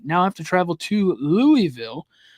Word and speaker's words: Louisville: Coming off of the home overtime win against Florida State, they now have to travel to Louisville or Louisville.